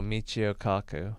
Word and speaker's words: Michio Kaku: Oh, Michio Kaku.